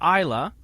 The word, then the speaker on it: Islay: ila we're heading to isla pronounced it looks like Islay but it is pronounced isla they make a tremendous